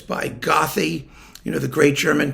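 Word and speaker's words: Goethe: okay it's we only found out it was pronounced good much later it was goeth sometimes goeth or gothi if you were it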